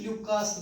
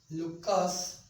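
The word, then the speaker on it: Lucas: Third question में ध्यान रखना, क्वेश्चन क्या है, reactivity of alcohols with ल्यूकास या ल्यूकस, जिसको जो भी जिस तरह से प्रोनाउंसिएशन है उस तरह से कर सकते हैं, ल्यूकास रिएजेंट।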